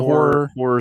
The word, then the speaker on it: horror: say, versed in the horror centric. Yes. Yeah. Horror adjacent. So how you been, man? That second R. Horror. Yes. Yeah, that's true. Two syllables.